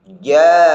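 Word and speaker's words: جاءهم: Perhatikan huruf hamzah dan huruf ha-nya harus jelas dan tegas terdengar. Ja'ahum.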